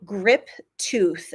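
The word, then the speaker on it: Grip-Tuth: And I do think so they're called Grip Tooth, and it's spelled Tuth.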